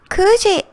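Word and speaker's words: 九時: it's not nana it's gg eight o'clock kooji kuji is kuji is also particular pronunciation be careful it's not kuji kuji juji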